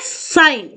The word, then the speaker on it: sin: वो क्या होते हैं, जब हम साइन की बात करते हैं, यहां पर देखो साइन की स्पेलिंग है SINE, बट जब हम शॉर्ट फॉर्म में राइट करेंगे तो हम इसको राइट करते हैं साइन, SIN।